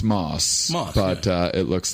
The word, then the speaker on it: Mauss: Well, it is a strange one cuz it's pronounced Moss, but uh it looks like, you know, a lot I hear a lot of like mouse or M who's this?